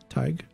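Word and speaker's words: Thaig: the ukin tug T TIG why would you put an H in there if it's just pronounced TIG that's like the English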